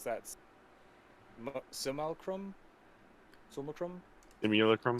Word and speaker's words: simulacrum: and i don't know how to pronounce that simal chrome chrome immunochrome spell it yeah s-i-m-u-l-a-c-r-u-n uh simulacrum simulacrum thank you uh and uh so those are